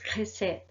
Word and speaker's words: Chesed: La CH en hebreo se pronuncia entonces como una KJ, ¿vale? Entonces Chesed, ¿vale?